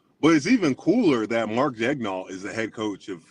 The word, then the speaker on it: Daigneault: Daigneault. They said head coach. It's an easy pronounce.